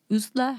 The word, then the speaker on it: Ursula: for 10 year old usla hermann which is spelled like ursula but that's not how it's pronounced or at least that's not how i heard it pronounced in other